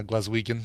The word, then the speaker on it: Glaswegian: So Claire says I don't think she's Glaswegian. Is that how you say it? Like someone from Glasgow? Yeah, from Glasgow. Yeah, Glaswegian.